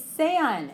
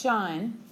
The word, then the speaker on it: sean: As a command, ser is sean. It's not pronounced shan, and it's not pronounced si. Okay, this is Spanish. We pronounce every vowel.